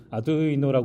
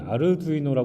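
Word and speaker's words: Arduino: 했냐 그렇지 않습니다 또 아드 이노라 하는 플랫폼이네 발전하고 있었는데 정확한 발음은 아르두이노 합니다 이탈리아 분들이 만드셔서네 알발 잘해야 된다고 하더라고요 그리고 아두이노는 하드웨어 소프트웨어를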